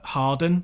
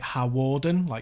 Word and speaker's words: Hawarden: for some bizarre reason, they mentioned Harden, which, sounds quite funny if you say it wrong anyway, which is in North Wales and near where I live. And they pronounced it Hawarden, spelled it out.